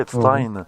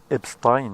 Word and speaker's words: Epstein: qu'il faut pas l'appeler Epstein, parce que ça s'écrit comme Einstein. S-T-E-I-N. Mais pour Einstein, on garde le Einstein. Mais pour Epstein, il faut pas dire Epstein, il faut dire Epstein.